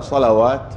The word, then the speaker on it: صلوات: مشكله نغ نغ نغ متى تنطق الواو متى ما تنطق انه نفس الرسم هنا تاء مفتوحه ولا مربوطه تاء مربوطه هذه ما هي مربوطه لا مفتوحه مفتوحه ايوه اذا كانت التاء مربوطه فهي الواو ما تنطق اه لكن هنا صلوات مفتوحه التا فهي جمع ما هي مفرد فلما تكون جمع فيها واو بالنطق لكن تكون مفرد صلاه الواو هذه زائده في الوسم العثماني اعوذ بالله من الشيطان